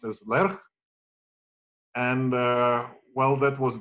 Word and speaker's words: Lerch: which is uh well it's a Polish name it's it's uh pronounced as lerch and uh well that